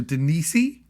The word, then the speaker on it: Deniese: You know, she is played by Denise, it's spelled Deniese, so Denise. I don't know.